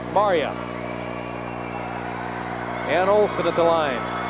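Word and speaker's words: Marja: Spells it M-A-R-J-A, pronounced Maria.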